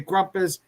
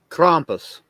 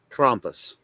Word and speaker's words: Krampus: Some say Krumpus. Potato. What is the pronouncing? The right pronouncing? Krampus. Krampus. Krampus is the correct Okay.